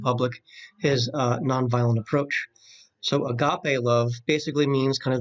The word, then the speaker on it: agape: and again worse pronounced agape it's a Greek word alright and remember we're still talking about the younger dr.